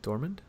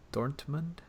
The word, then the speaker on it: Dortmund: Do you even pronounce the T? Dormund. Dortmund.